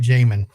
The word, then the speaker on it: Jamin: So anyway, Jamin, and I am saying it right, Jamin, correct?